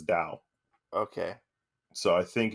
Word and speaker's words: Tao: So I think it's kind of how in Shintoism you have Tao, Tao, yeah. But you actually pronounce it as Dao.